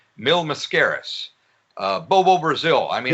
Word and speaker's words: Mil Mascaras: He had, if I can pronounce his name correctly, Mil Mascaras, Bobo Brazil. I mean, Mil Mascaras.